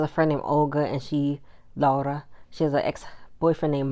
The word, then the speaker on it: Laura: I was saying her name right, Laura. That's how they say it because she's from Poland. European, they say it differently.